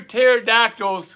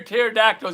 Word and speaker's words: pterodactyl: why can't you hear pterodactyl go to the bathroom why can't you hear pterodactyl go to the bathroom yes no the p is silent right the p is